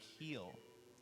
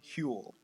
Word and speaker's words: Huell: know you'll be okay you say it like he'll what is it I think it's fuel like fuel with a name Huell Huell okay it's an H it's H UEL Oh they should have